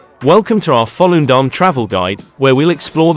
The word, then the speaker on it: Volendam: In Dutch, Volendam is pronounced as Volendam. The V sounds like an English F, and the emphasis is on the first syllable, with a soft and slightly prolonged dam at the end.